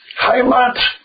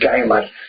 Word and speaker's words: Heimat: Said, Heimat, parole, Heimat. The Russians couldn't pronounce the H. They said Geimat.